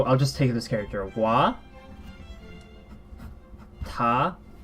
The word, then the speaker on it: は: wha you see here I wrote ha this is this is pronounced watashi wa even though it's not this wha we pronounce such as wah when we're practicing as a particle hope you remember this